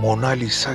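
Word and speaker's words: Mona Lisa: पर बनाई गई है इस का सही उच्चारण मोना लिसा नहीं है बल्कि मोनालिसा है जिसका अर्थ इटालियन में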